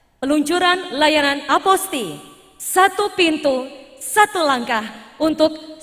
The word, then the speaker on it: apostille: tangan bapak dan ibu nama boleh tertulis aposile namun dalam bahasa Perancis pengucapan yang tepat adalah a posting boleh berkenan berlatih bersama saya aposty Terima kasih bapak dan